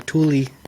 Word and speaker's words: Tooele: the middle of nowhere Tooele Tooele Utah Thule if you look it up online it's spelled Thule yeah but we moved